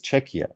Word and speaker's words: Czechia: make it a joke say it's czechia imagine check like you are writing a check and perhaps I don't know the car maker Kia checka and then they will